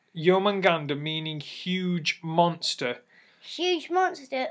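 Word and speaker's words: Jörmungandr: a producing make God serpent it's so it's pronounced yeoman ganda meaning huge monster huge monster also known as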